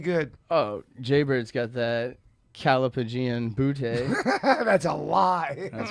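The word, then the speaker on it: callipygian: It is pronounced Calapagian, and the definition is a word dedicated to describing a perfectly shaped buttocks.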